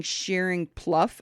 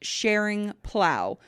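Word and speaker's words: Schering-Plough: And by the way, I've been saying Sharing Pluff. Apparently it's pronounced Sharing Plow.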